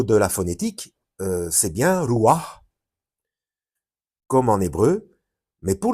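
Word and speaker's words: רוח: Mais au niveau de la phonétique, c'est bien Ruach, comme en hébreu, mais pour le tétragramme, Yahweh, le son fait, enfin la phonétique fait Adonai.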